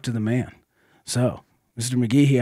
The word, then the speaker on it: McGhee: The H is weird. It's not McGhee. It's McGhee.